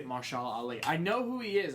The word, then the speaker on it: Mahershala Ali: Mahershala Ali. Mahershala Ali.